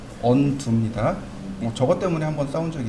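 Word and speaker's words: undo: 그런데 여기 언두라는 개념이 있죠. 운도라고 읽으시면 안 돼요. 네, 운도는 가수 이름이고 언두입니다.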